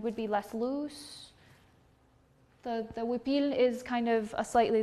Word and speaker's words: huipil: I called it a huipil. So that is spelled H-U-I-P-I-L.